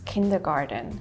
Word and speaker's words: Kindergarten: One word that is common in both languages is kindergarten. How do you pronounce it? What's the difference between it? So in the US we say kindergarten.